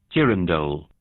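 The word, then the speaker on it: girandole: what is that a jiren doll uh and i'm also not entirely sure how to say it so i'm going to get this is the oxford dictionary's pronunciation jiren dole jiren doll fine fair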